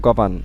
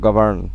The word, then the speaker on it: govern: British অ্যাকসেন্টে কি হয়? গভর্ন। আর যদি আমেরিকান অ্যাকসেন্ট ধরি তা গভর্ন। আমেরিকান অ্যাকসেন্টে আরটা উচ্চারণ হয়, আর ব্রিটিশ অ্যাকসেন্টে আরটা উচ্চারণ হয় না, গভর্ন।